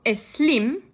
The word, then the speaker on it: Slim: and philanthropist named Carlos es slim his name is spelled s-l-i-m but everyone will pronounce it with an e in front but I must make